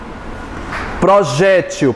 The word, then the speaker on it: projétil: com ou sem acento projétil pode ser também sem acento sendo pronunciado como gente eu posso anunciar